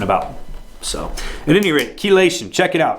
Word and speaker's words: chelation: So at any rate, chelation, check it out. It's spelled Chelation. Not like it sounds.